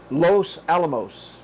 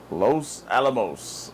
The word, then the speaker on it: Los Alamos: I tell you that the name of that New Mexico town is a little hard to pronounce. Los Alamos. Los Alamos.